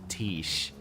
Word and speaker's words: Tish: I don't think I'd be scared of a guy named Tish. I mean, it rhymes with quiche.